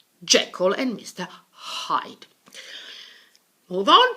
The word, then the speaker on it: Jekyll: Jekyll, and Mr. Hyde, not Jekyll. Jekyll and Mr.